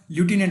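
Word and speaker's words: lieutenant: आपको लग रहा होगा लेफ्टिनेंट बोलते हैं तब क्या एफ आना चाहिए लेकिन एफ नहीं आता। लटिनेंट होता है क्या? लटिनेंट बोलते हैं इसको।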